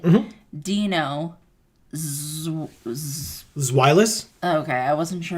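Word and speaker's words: Deino: Marcus says pronounced Dino, right? Mm-hmm. Dino.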